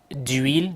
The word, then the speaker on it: huile: Now you may wonder, why do we say d'huile, d'apostrophe, and we say de pain? Simply because huile begins with a silent H.